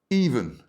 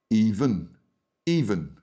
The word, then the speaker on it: even: For example, even, stress is on the first syllable. Even, even.